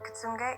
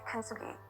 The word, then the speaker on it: kintsugi: I'm going to say it wrong. Kitsunge, kintsugi.